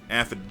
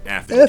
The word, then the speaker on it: aphid: I believe aphid dew is just a combination of an egg and honey together. Can I ask why you pronounce it aphid? Or it is aphid. It's aphid? Correct.